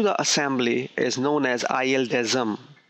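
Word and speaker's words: ILDASM: assembly is known as i desm i d a m i desm this is how we pronounce it the full form of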